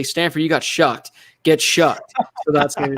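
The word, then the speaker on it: Shough: It's so weird hearing it pronounced Shuck now that we know it's actually Shuck.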